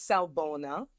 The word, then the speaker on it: Sawubona: So the name of the group is Salbona, Afrocentric Circle of Support. And yes, I know that's a mouthful, but there's a reason behind that. So Salbona is spelled Sawubona.